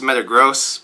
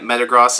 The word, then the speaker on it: Metagross: at number one drumroll please Metagross it's actually pronounced Metagross but I've been calling it Metagross is the only Pokemon that I'll ever mispronounce